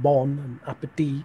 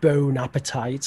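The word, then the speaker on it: bon appétit: that to teach them bon appetit right yeah and as well as some of their pronunciation because everyone knows it's bon appetit it's not you know bone appetite or whatever right yeah so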